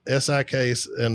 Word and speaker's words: sika: Um, it's a sik. And the the locals up there pronounce it sika. I still say it's or you know I just don't pronounce my eyes like that.